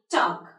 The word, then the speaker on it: talk: Talk, walk, what? Good. So you can see this letter L is not at all been pronounced.